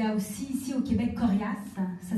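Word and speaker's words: Koriass: Il y a aussi ici au Québec Corias, ça s'écrit K-O-R-I-A-2-S.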